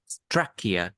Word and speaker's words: trachea: It is a gatekeeper to prevent food from entering the trachea or Trachea, âm windpipe. đầu, nhấn âm đầu nha. First syllable. Trachea, trachea.